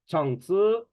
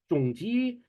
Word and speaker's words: Chang Cheh: the pronunciations, the names, I pronounce his name as Chang Cheh, but Chinese people, Malaysians, they pronounce it as Chang Tzu. You'll hear people from Singapore say it as Zhong Ji. You'll hear Chang Cheh like that. You'll hear different pronunciations.